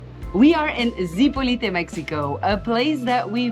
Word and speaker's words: Zipolite: this what is not the right way to pronounce zipoli zipolite a lot of people call it zipolite it is not that difficult if you come here just learn how to pronounce it it's called zipolite so if you want to blend in with